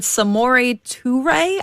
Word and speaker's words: Samori Toure: I took out Samori Toure, I believe, is how you pronounce it based off of my research.